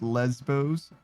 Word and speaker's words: Lesbos: is it Greek no it's pronounced Lesbos like lesbian yeah but what if